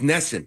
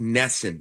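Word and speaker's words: NESN: Network and this one will be on it's nessen it's all about nessen but uh locally but nationally so we hear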